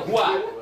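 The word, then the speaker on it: هُوَ: Hui mah dimakan, Pak ya. Hui. Enggak boleh dibaca hui. Hui. Dibacanya hua. Tidak boleh dibaca hu atau hui. Dibacanya tetap hua.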